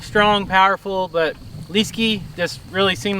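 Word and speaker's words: Leeske: the spelling so you guys could some somewhat pronounced his proper english name is l-e-e-s-k-e yeah so it's just liskey that's how we decided yep so that's his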